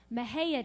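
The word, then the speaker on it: Mexia: there's a little town in um texas called mahaya texas and it's pretty hard to spell it's spelled m-e-x-i-a and there happened to be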